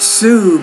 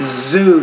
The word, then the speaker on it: zoo: rut number eight oh it's more not Sue but Zoo you have to pronounce that Z with more vibration it's not an s number nine drug rude make it a little bit longer rude number 10.